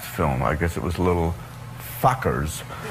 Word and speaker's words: Little Fockers: I guess it was Little Fockers. Right. Yes, I pronounced it right.